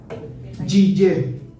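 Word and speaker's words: יהיה: Yiyé. Y yiyé se escribe con cuatro letras hebreas.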